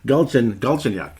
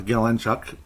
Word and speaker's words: Galchenyuk: Galchenyuk.